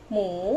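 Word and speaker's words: หมู: For the people who can read already, this is H, no pronoun, M and the U, all together pronoun, like you don't see this, okay? So you just pronounce like mu, rising tone, mu, mu, pork or pig is same word, mu, okay.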